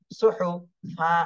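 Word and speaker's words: صحفا: হা পেশ হু সুহু সুহু ফা আলিফ দুই জবর ফান সুহুফান উচ্চারণ করার সময় বলতে হবে সুহুফা সুহুফা দ্রুত সুহুফা সুহুফা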